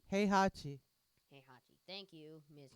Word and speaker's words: Heihachi: versus Henhachi. Heihachi. Heihachi. Thank you, Miss Correct Pronunciation.